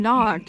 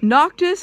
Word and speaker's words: Noctis: jump right right right why does everyone insist on calling him knocked it's not noctis is not a hard name to pronounce like gladiolus i can